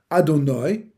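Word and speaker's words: אדני: The name Aleph Daled Nud Yud, which we pronounce, Adonai, right?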